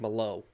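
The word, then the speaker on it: Malott: Magny taking on Mike mot Mike mot absolutely the young good-looking what it's Mike Malo I'm not I'm not doing the Canadian pronunciations we got [ __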